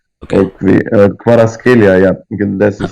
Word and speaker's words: Kvaratskhelia: Anguissa, Lobotka, and then the hard prospect on the left, which is Kvaratskhelia. Okay. Or Kvaratskhelia, yeah.